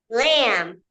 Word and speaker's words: lamb: And a baby sheep is called a lamb. Lamb. Lamb. Lamb. That is a baby sheep. So that's that about the silent B words with the MB pattern.